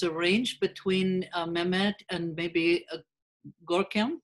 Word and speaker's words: Görkem: between Mehmet and maybe Görkem, if that's the correct way to pronounce his name. Görkem mi isminiz? Doğru mu söylüyorum? Doğru bir şekilde mi söylüyorum bilmiyorum ama. Evet, evet. Doğru söylüyorum. Yes, that's the right way to pronounce my name.